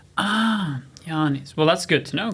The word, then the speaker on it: Jānis: Jānis. Oh, so Yes. there's like a long A there. Yeah, it would be like double A in Estonian. Jānis.